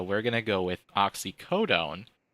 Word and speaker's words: oxycodone: going to go with oxycodone which everybody is mispronouncing as oxy Codine so people are seeing